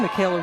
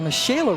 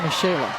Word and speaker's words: Mikayla: to the second inning Mikayla Richburg the mishaela Richburg excuse me spelled like Mikayla but pronounced Michelle my apologies to the